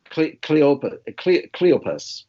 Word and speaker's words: Cleopas: conversation between Jesus and, do you pronounce it Cleopas? Cleopas. Cleopas. Like the accent is on according to the booklet here, it's accent on the first syllable, Cleopas.